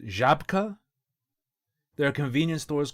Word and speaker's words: Żabka: At a place I think is pronounced Żabka. There are convenience stores called Żabka or Zabka or something.